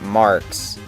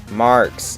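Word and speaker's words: Marx: No, not Mark's. Mark's. It's spelled with an X.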